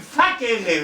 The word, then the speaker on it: facere: Facere, oui, facere, oui. Ah il y avait trois syllabes, facere. Alors quand il y avait trois syllabes, les Romains avaient tendance à insister sur la deuxième. Donc ils disaient facere, facere, oui.